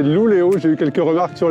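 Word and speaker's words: Luleå: Nous voilà à Luleo, c'est comme ça que l'on prononce, ce n'est pas Lulea, c'est Luleo, j'ai eu quelques remarques sur les réseaux.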